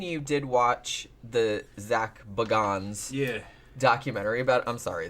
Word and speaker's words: Bagans: of his name but when he said it himself in the documentary he said Bagans so I'm guessing that that's how he pronounces it although like I said